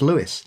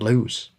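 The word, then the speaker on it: Lewes: Mary writes, "I wanted to let you guys know that Lewis, Delaware is pronounced Lewis, not LSE."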